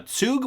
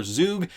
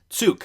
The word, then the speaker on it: Zug: course i was incorrect he lives in uh tsug which is how it's pronounced not zug or zoug uh it's spelt z-u-g but he lives in switzerland and i just wanted to clarify that it is pronounced tsuk so uh anyway back to this stephan also